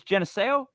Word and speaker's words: Geneseo: idiot what is it it's Geneseo yes Tennessee right I get points for that but Geneseo okay so the Ghost Boy of Geneseo right bang and you've